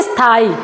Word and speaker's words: स्थाई: लेकिन यहां पे हम जब उच्चारण कर रहे हैं तो कह रहे हैं स्थाई यानी इ का साउंड आ रहा है। इ की ध्वनि आ रही है।